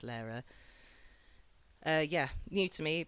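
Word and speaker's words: Lehrer: by uh Tom Lara I think it's pronounced Lara uh yeah new to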